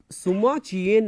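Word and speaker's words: Sima Qian: जब हम Chinese history writing की बात करते हैं यहां पे, तो सुमा चियेन नाम का एक इतिहासकार है। ये चाइनीज नाम है तो थोड़ा सा डिफरेंट प्रोनाउंसिएशन होगा इसका, सुमा चियेन।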